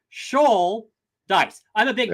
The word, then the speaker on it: Schultheiss: it's helpful and convenient the way that we do it in my family is Shaw like a shol of fish TI rhymes with dice so Sha dice I'm a big D